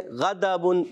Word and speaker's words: غضب: دال بھی نہیں پڑھنا، زواد بھی نہیں پڑھنا، اور ڈواد بھی نہیں پڑھنا، دال بھی نہیں پڑھنا. ٹھیک ہے؟ تو آپ نے اس کا جو تلفظ ہے کوشش کرنا ہے وہ پڑھنا ہے.